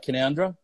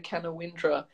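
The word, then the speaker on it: Canowindra: Before I get too far into it, am I saying it right, Canoundra? You are, yes. I gave a little like, woo, when you did it. Because most people say Canawindra and there is a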